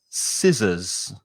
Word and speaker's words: scissors: muscles the next one scissors scissors so the first vowel sound is e si and the second vowel sound is uh scissors scissors what scissors